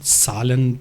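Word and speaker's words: Zahlen: इसलिए किया जाता है, जर्मन ज़बान में जो नंबर्स हैं उनको जालन बोला जाता है, जालन, ठीक है। तो जालन का पहला जो लफ्ज़ है, जालन बोलेंगे या उनकी सालन प्रोनाउंस करेंगे जर्मन लैंग्वेज में।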